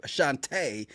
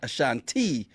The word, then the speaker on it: Ashante: Now, we finally got the proper pronunciation, Ashante. Yeah. And she showed up, Ashante, not Ashanti.